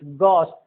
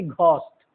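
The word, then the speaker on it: ghost: गॉस्ट मतलब भूत प्रेत, गॉस्ट न कि घोस्ट, गॉस्ट।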